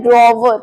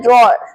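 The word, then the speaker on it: drawer: इसकी गलत प्रोनाउंसिएशन है ड्रॉवर। कई लोग इसे ड्रॉवर या कुछ किसी और तरीके से बोलते हैं, बट इसे सही तरीके से बोला जाता है ड्रॉर।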